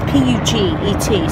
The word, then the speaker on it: Puget: No, it's Puget. It's P-U-G-E-T, so you pronounce that Puget.